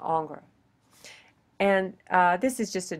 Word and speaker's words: Ingres: This guy, you say his name, Ingres.